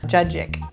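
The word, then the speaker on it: cacık: going to do a dish called jajik it's spelled c-a-c-i-k it's a Turkish dish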